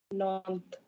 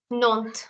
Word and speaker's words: Nantes: How do you pronounce this word, please? Nantes. Nantes.